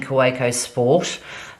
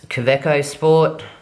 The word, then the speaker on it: Kaweco: I will be using, I've been saying Kaweco Sport, but I've heard that it is Kaweco Sport, however you like to pronounce it.